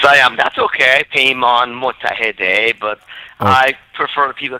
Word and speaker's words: Mottahedeh: Peymon Mottahedeh, but I prefer people call me Peymon.